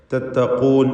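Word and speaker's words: تتقون: അഖൂഹും നൂഹുൻ അലാ തത്തഖൂൻ. നൂഹുൻ എന്ന് പറയുമ്പോൾ തൻവീനും ശേഷം ഹംസയുമാണ്. തൻവീനും ശേഷം ഹംസയും. ഇൽഹാർ ഹൽക്കി നൽകി തൻവീനിനെ മണിക്കാതെ വെളിവാക്കണം. ഹ വ്യക്തമാക്കി ഉച്ചരിക്കണം, സൂചിപ്പിച്ചതാണ്. തത്തഖൂൻ എന്ന് പറയുമ്പോൾ ഖാഫിന് തഫ്ഖീമാണ് എന്നത് ശ്രദ്ധിക്കുക. അലാ തത്തഖൂൻ.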